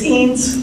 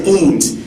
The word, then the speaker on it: Eanes: of dignity that's appropriate, is that pronounced Eanes, or will you help me with your last name? It's Eanes. It is Eanes.